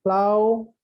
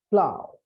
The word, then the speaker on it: plough: Now again, in plow, o u g h, they give the ow sound, plow, but in e n o u g h, it is a.